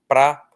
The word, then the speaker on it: para: Então, essa palavra ela é tão átona que ela perdeu um dos sons dela. Ela virou um pra quase sempre nós pronunciamos pr.